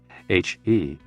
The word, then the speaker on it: he: associated with the liver h e pronounced like her with a yawn which is associated with